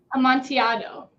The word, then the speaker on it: Amontillado: And you're going to have to help me pronounce Amontillado Sherry. Amontillado.